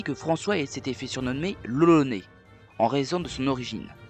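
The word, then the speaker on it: l'Olonnais: François s'était fait surnommeré loloné en raison de son origine mais à l'époque on ça se prononcer aussi lolonois et lolonois ça ressemble énormément à Roronoa vous ne trouvez pas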